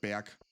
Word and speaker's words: Berg: It's not pronounced Berg, but Berg.